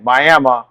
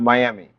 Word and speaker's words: Miami: from around this area they're going to say Mi not Miami correct all right so that's